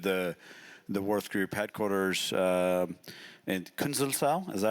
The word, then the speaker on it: Künzelsau: So we actually visited the Würth Group headquarters in Künzelsau. Is that how you pronounce it?